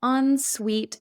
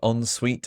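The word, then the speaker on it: en suite: walk-in closet oo that's really fancy and an onsuite bathroom an onsuite bathroom is connected to the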